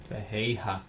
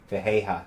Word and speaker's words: Ferreira: Fejeja. Oh, that's They don't right. pronounce They don't the know. R's. Yeah, Fejeja.